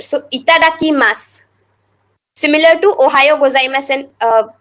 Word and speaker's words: itadakimasu: For before eating or drinking, Itadakimasu. Here in English I have written SU, but it is not pronounced as su completely. The U is silent in there. So itadakimasu.